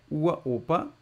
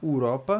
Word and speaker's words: Uropa: um pouquinho aqui ó ua Opa de uaa ua Opa Cuidado para não falar uropa né ua Opa e de